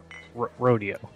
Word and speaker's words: rodeo: Rodeo. It's pronounced Rodeo. Rodeo.